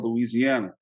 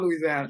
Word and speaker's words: Louisiana: I love Louisiana. Actually, it's pronounced Louisiana. It's not pronounced Louisiana. It's Louisiana. Louisiana.